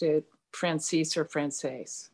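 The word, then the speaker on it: Franzese: Well, I pronounce it Francis. I've heard it Frances. He pronounced it Francis or Frances. Francis.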